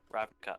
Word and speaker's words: Ravnica: Ravnica.